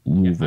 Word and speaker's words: Louisville: It's pronounced Louisville.